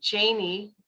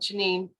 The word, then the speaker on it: Janine: little a lot of people did call me janie thinking that's how you pronounce it until you know but at home i was uh i was called janine uh until i got